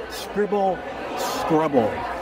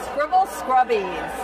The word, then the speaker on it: Scribble Scrubbies: So, Connie, what is Scribble Scrubble? Am I saying it right? Scribble Scrubbies. Oh, Scrubbies. Yes. Right, okay. Scrubbies, yes.